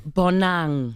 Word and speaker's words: Bonang: How do you pronounce your name? Bonang.